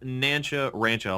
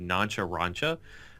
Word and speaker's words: Nancha Rancha: Uh, it it's pronounced Nanchcha Rancho. A lot of people when they read it, they read noncharancha.